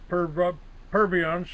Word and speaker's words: Purviance: My guest today will be Ross Purviance. Is that the way to pronounce it, Ross?